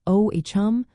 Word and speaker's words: Ogham: The pronunciation of Ogham is primarily O-H-M or O-H-M, with the emphasis on the first syllable.